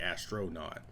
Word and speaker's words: Astra.Not: how it's spelt, because originally it was going to be Astra.Not, like naughty boy, I didn't want to just have it be like regular astronaut, like Astra.Not.